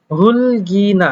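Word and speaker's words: 흙이나: এই রোলারের কাজ কি আপনারা যদিও জানেন, তারপরে একটু যদি খেয়াল করেন, বলছে হুলগিনা, দেখেন এখানে আসলে উচ্চারণটা হওয়ার কথা ছিল হুক, কিন্তু যেহেতু মূলত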